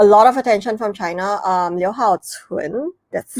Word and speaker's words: Liu Haocun: Liu Haocun, that's how you pronounce it. Yeah, Liu Haocun.